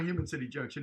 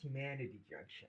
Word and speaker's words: Humanity Junction: It's not Human City Junction, is it? It's Humanity Junction.